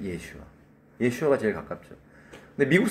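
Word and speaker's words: ישוע: 원래 예수님의 원어의 발음은 우리가 아시다시피 예슈아.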